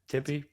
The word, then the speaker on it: Tempe: than Tempe Arizona I Tempe Tempe is temp tempy we're doing Arizona pronunciations